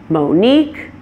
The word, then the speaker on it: Monique: names follow this pattern names that come from languages other than English languages like French may stress the opposite syllable and my name is one good example of that it stresses the second syllable since it's a name that came from the French language other names that do this are Suzanne Monique Michele and Colleen so beware not all